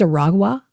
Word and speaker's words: Aragua: It's Aragua, so it's harder for me to pronounce. Tren de agua, Aragua. And I'm used to just saying agua.